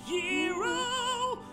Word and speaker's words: gyro: He's going to get a gyro. Euro. No. Although it's technically pronounced Euro.